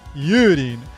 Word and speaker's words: Yurin: Well, in Japanese, her name is pronounced Yurin. That is Yurin with a long U vowel, so it's Yurin.